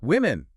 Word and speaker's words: women: And then plural women.